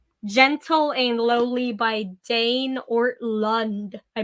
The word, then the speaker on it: Ortlund: little crab crawl over to my bookshelf, but it is called Gentle and Lowly by Dane Ortlund. I pronounced his name wrong the first time. So it is spelled Ortlund.